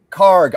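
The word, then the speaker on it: Kharg: Um, Wimsatt, I need help with the pronunciation here. Uh, what Karg? Karg, Okay, I I I wanted to make sure that was correct.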